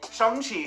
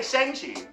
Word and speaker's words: Shang-Chi: So anyway, Shang-Chi. See, I'm saying it right because we used to say Shang-Chi.